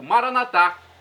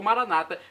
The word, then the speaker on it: Maranata: dizemos nosso católicos ou Maranata com a tônica na penúltima sílaba como dizem nossos irmãos separados os evangélicos ou protestantes não importa pronúncia o significado é o mesmo vinde Senhor Jesus um dia